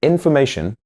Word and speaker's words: information: And in information, the syllables before and after the stressed syllable reduce to schwas.